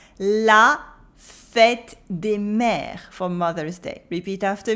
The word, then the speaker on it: mères: La fête des mères for Mother's Day. Repeat after me. La fête des mères. La fête des mères. And just like for any plural, the S at the end is silent.